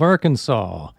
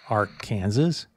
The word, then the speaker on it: Arkansas: Rock, the capital of Arkansas. Did you ever wonder why it is not pronounced Ark Kansas? You can thank the French for dropping the S at the end.